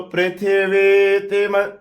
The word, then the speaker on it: पृथ्वी: पृथ्वी की छोटी इ है वी की बड़ी वी इ है तो पृथ्वी पृथ्वी त्वया धता लोका